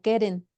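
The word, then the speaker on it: קרן: Y es la palabra original correcta en el hebreo, que se podría pronunciar como keren, pero con Q, de queso, sin la U, obviamente.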